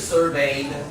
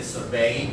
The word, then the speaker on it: survey: the fashion is that now we tend to say survey. 有时候你也听到把它放前面，所以这样的用法 you can say like the researchers surveyed. Yeah, you can put it on the first syllable. So now you can say survey or survey. Both ways are fine.